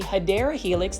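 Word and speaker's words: Hedera helix: I've tried it multiple times and just like hedra helix or what you call the hideera helix that's the correct way to say English ivol um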